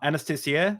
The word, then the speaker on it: Anastasiya: and I still got it wrong like uh Anastasia that's right unless this is pretty good yeah